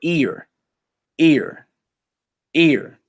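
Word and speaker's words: עיר: right it's feminine and how you would say that his ear like you hear ear my brothers that pronounce without the vas a IR IR but ear ear ear a city ear is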